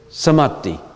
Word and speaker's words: Samadhi: Okay, in the world of desires, Kama Dhatu, our highest level is Samadhi. It's spelled S-A-M-A-D-H-I, Samadhi.